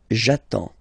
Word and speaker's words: j'attends: So the first form will be j'attends, j'attends. Okay, you get D and S, well, basically you don't pronounce them, okay, and then you get only the sound attends, nasal here, en, j'attends, okay.